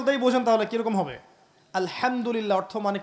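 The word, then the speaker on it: الحمد لله: আলহামদুলিল্লাহ অর্থ মানে কি? এখানে যে হা আছে, এটা কি বড় হা না ছোট? হুত্তি না হাওয়াজ? হায়ে হুত্তি, এটাকে বলে বড় হা। উচ্চারণ কোথা থেকে করতে হয়? মাঝখান থেকে।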